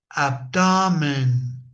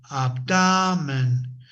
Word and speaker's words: abdomen: No, in English we don't have that elevation of the voice or the tone or the stress if you want to to to to know that in the last syllable. No, we don't have it in the first syllable. Let's say uh we have always before it for example shoulder, not shoulder, shoulder, abdomen. abdomen. I cannot say abdomen.